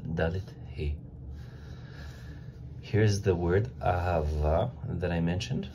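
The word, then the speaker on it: אהבה: So Aleph in the word Ahava is pronounced A. He, this He is pronounced Ha. The Bet is pronounced with the V sound, as in V, Victor, like that. And the last He is pronounced A, so not Ha, just A. And it's like, so here we have Ahava.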